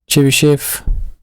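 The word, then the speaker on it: Chebychev: to smooth F1 and then change this to Chi shf that's how you say it and what you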